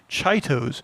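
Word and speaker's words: Chitos: intersnack produces something called chaitos which actually might be pronounced cheetos but it's spelled c-h-i-t-o-s and i want to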